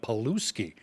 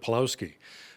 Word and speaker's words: Polowski: the crown prosecutor who kept mispronouncing his last name calling him paluski instead of polowski the two had a